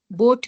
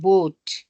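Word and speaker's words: boat: okay next है ओ ए इसमें आप टंग को जैसे बूट बोट में होते हैं ना हमारे पास spelling B ओ ए टी बोट बोट के अंदर जो हमारे स्पेलिंग्स आएंगे नो इट्स नॉट बो इट्स ओ ए इज ओ ओ ए इज ओ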